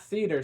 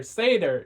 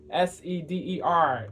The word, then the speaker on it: Seder: Not Seder. Seder is the correct pronunciation. Sorry, Seder, Seder is the correct pronunciation. Seder.